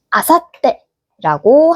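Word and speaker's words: 明後日: 모레는 아사떼라고 합니다.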